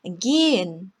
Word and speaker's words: gehen: 예를 들어서 gehen, 가다라는 뜻의 이 동사는 gehen이라고 발음하는 게 아니라 gehen 이렇게 발음되고요.